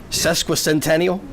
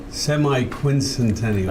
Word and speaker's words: semiquincentennial: Only if you could pronounce it. Oh gosh. Cesqua Centennial. Semiquincentennial.